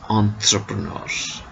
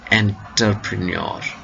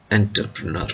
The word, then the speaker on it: entrepreneur: You see, this is a French word which should be pronounced as entrepreneur, not entrepreneur.